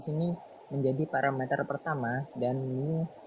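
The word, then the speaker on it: μ: Nah, perlu kalian ketahui bahwa lambda di sini menjadi parameter pertama dan mu atau mo bacanya mo atau mo ini merupakan parameter kedua.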